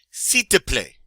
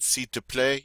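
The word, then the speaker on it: s'il vous plaît: last five coming up see to play see to play all right you try it did you notice we really didn't say the L we just said c to play it means please if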